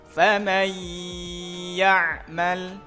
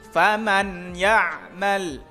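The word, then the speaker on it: فمن يعمل: Contoh ketika nun mati bertemu ya. Tadi gimana cara bacanya? Dibaca dengan dengung. Contohnya faman ya'mal faman ya'mal. Tidak boleh dibaca jelas ataupun samar. Contoh yang jelas faman ya'mal, atau samar faman ya'mal, itu tidak boleh.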